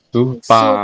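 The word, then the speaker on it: スーパー: Supa. Supu. Supu apa Supa. supa ya? Supa, desne supa. Jadi dari kata super itu bahasa dibawa ke apa namanya pelafalannya orang Jepang jadi supa.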